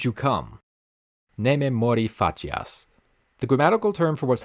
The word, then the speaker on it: facias: Facias in classical Latin would be pronounced as facias, since C was always a hard C. But in medieval Latin, it's become a bit closer to C's in modern Italian, where if certain vowels follow it, then it becomes a ch sound.